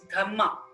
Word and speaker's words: dhamma: ashoka's gamma in pali in pali language dharma is pronounced as dhamma d-h-a-m-m-a so through his dhamma